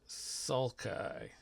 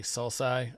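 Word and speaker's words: sulci: The Valleys in between those are pronounced suai some people say salai um we'll go with suai here we have the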